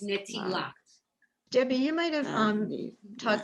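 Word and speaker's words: נטילת: the more orthodox settings, they don't pronounce the t as a T sound, but more of an S sound. Yes. But since we're teaching you from a conservative view, it's netilat.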